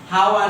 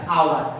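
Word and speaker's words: hour: I have been waiting here for হাওয়ার না, এটা আওয়ার, এইচটা সাইলেন্ট, তাইলে অ্যান আওয়ার।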